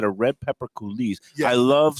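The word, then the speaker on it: coulis: absolutely delicious and you said a red pepper kise I love saying the word kiz I love to spell it c u l i s what does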